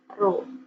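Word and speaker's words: ρ: Ini bacanya Rho ya. Ini dibaca Rho.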